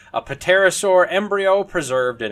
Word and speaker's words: pterosaur: triceratops, and a pterosaur, look, I know it's pronounced pterosaur, a pterosaur embryo preserved in its egg, as well as